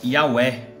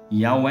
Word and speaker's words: יהוה: vocês vão ver que este nome se pronuncia e auê certo este nome aqui vou mostrar para vocês agora que este nome aqui ele se pronuncia e ao é só que o nome do criador ainda não é porque porque a última letra do nome do eterno é muda o nome do criador